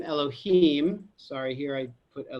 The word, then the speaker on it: Elohim: the left the name written youhave Ave and pronounced Elohim and this is the secret of bina okay